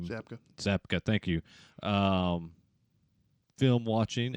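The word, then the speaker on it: Zabka: how do you say his last name zapa zapka thank you um film watching and so I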